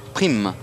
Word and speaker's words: Priem: C'est pas Priem, c'est Prime.